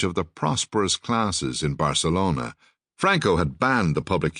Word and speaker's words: Barcelona: Thus, the pronunciation of the word Barcelona does not have the th sound as used in the series Faulty Towers.